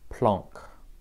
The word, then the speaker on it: Planck: constant this is called planck's constant so pronunciation guide this is a german last name i've heard so this is a german last name the american way of saying this is planck like i say it